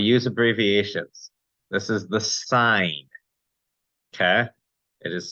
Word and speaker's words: sine: button looks like sin please do not call it the cenovax the sine of x you call it the sin of X you are sinning you're breaking the rules in mathematics and you're not pronouncing things correctly so please call it the sign we have the cosine